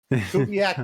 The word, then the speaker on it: Kubiak: It rhymes with black. Kubiak black.